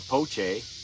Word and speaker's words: Poche: Poche, or Poche. I said it right.